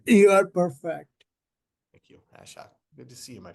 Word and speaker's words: Ashok: Yeah, Joyce, is it pronounced Ashok, Mr. Is that correct? Yes, you are perfect. Thank you, Ashok.